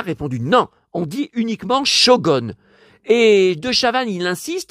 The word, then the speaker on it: Shogun: Ça ne s'est jamais prononcé goon.